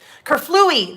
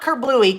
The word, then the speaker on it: kerflooey: us into this one kerflooey there we go not kerbluey kerflooey i know kerplunked that's